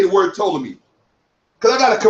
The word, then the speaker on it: Ptolemy: Look, Ptolemy. Ptolemy. There's no P sound, you dummy. Stop saying Ptolemy.